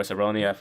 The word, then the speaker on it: Cerrone: Conor saying he wants to fight um cowboy Cerrone so like or ceronia the thing that's how you say his name